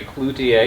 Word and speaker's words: Cloutier: Cloutier.